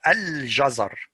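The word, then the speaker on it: الجزر: And here the lam is followed by jim. So it is pronounced al-jazar.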